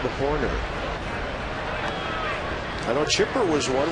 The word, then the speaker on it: Horner: Rhymes with corner. Bob Horner.